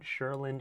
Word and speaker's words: Cheurlin: So Isaiah Thomas is being sponsored by a champagne company called Sherlin Champagne. So that's spelled Cheurlin.